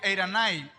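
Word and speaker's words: εἰρήνη: Ahora bien, la palabra paz viene del griego eiranai o eirene, como se escribe.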